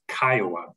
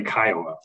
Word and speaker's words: CCIOA: me your homeowners association that is pronounced or excuse me abbreviated Kiowa ccioa um and in this presentation that is uh what we'll be referring to when we say kyowa uh importantly what we